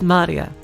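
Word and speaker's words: 真里亞: Her name is written blah. Of course, blah is pronounced Maria.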